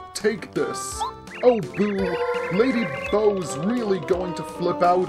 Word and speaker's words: Bow: Oh, Boo, Lady Bo's really going to flip out on us. Some people pronounce it Bo, others pronounce it Bow. I think Bo is the proper pronunciation.